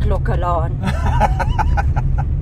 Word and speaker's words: Clocolan: business once or twice I didn't pronounce it clock Alon I only learned that later oh okay how did you pronounce it uh Clan I'm sure I'm not